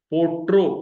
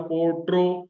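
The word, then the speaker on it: پوٽرو: पोट्रो का प्रोनाउंसिएशन आएगा, आप उसको रोमन में देख लें, POTRO, पोट्रो।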